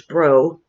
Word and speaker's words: Breaux: really great guy um his name is delvin bro i believe it's bro i think that's how it's pronounced junior and he's written